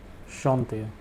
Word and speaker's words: chanter: The second sentence: Marie peut chanter. Marie can, to sing. The verb over here is chanter. This means to sing. The pronunciation is chante.